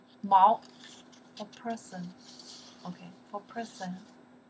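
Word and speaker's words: 毛: It's a character we pronounce the Mao.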